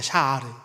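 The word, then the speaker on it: שָׁאַר: 특별히 여기서 이 단어의 원형은 샤하르입니다. 샤하르.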